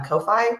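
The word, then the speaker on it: Ko-fi: NPC GUI NPC blog posts on his um Kofi and that's how you say it and um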